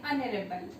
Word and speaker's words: honorable: An honorable. In this word also the h letter is silent, okay.